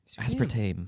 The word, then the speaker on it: aspartame: Just think about how it's spelled. Yeah, but Tame. That doesn't help. But like when you see spelled Tame. tame that dog, Tame. you see Tame the dog T-A-I-M. because it's the same spelling.